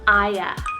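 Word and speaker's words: Ia: I have a very short name for the letter I that I've actually found quite recently, and that's the name Aya, spelled I-A.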